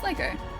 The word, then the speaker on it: Lego: It's Lego. That's how you pronounce it.